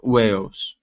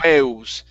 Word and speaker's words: whales: that last word so give me a good l sound whale whales whales all right so this one here you're saying waves okay pronouncing an okay curve the tongue up touch the top of your mouth whales whales there you go that's better one more